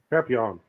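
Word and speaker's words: Papillion: How do you say that? Papillon. Oh, okay. It's French, so you know.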